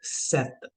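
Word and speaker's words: sept: इज सिस एंड for seven the sound is सेत सेत सो in this particular case जो आपकी पी है पी इ साइलेंट प साइलेंट है तो आपको पी की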